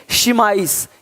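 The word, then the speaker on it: chemise: यहाँ पे केमिज नहीं है, शिमाइस, शिमाइस, देख रहे हो?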